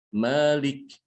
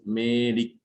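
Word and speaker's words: مالك: Malik, bukan Melik. Bisa bedain enggak? Malik dengan Melik.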